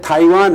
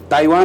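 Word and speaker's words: 台湾: जैसे थाइवान है ताइवान उच्चारण नहीं है। वो टी का था होता है।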